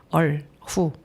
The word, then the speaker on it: 얼후: 얼후는 이얼산스 중국 발음인데 중국에 1, 2, 3, 4 있잖아요. 그래서 두 줄이라고 해서 이얼, 얼후, 네, 얼후라는 이름을 가지고 있어요.